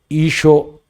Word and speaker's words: ഈശോ: എങ്ങനെയാണ് ഉച്ചരിക്കുന്നത് എന്ന് ചോദിച്ചാൽ ഐ എസ് എച്ഓ ഈഷോ എന്നാണ് അരാമിക് ഭാഷയിൽ സിറീക് ഭാഷയിലുള്ള ഉച്ചാരണം അതേ ഉച്ചാരണത്തിന്റെ ഒരു ശരിയായ